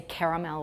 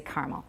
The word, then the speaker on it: caramel: It's just like caramel. We don't say caramel, we say caramel.